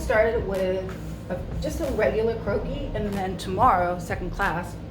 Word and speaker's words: croquis: say the difference between the croaky or croaky is spelled cro qu is and it's actually a French word and so that's what